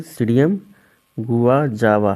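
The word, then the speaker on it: Psidium guajava: यहां पर जो है प साइलेंट हो गया है इसलिए क्या बोलेंगे सीडीएम गुवा जावा है य यहां पर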